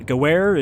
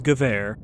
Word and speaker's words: Gewehr: I just know that if we get a W, we pronounce it like a V. It is not Gewehr, it is Gewehr.